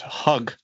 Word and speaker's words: hug: sounds very similar um for Spanish speakers that have hard time pronouncing this one I just suggest more you say hag with a more pronounced a sound and it still sounds closer to hug in the right way U and that